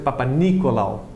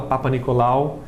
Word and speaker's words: Papanicolaou: Inclusive a pronúncia é Papanicolaou, mas todo mundo fala Papanicolaou, que era o sobrenome dele, é um sobrenome grego.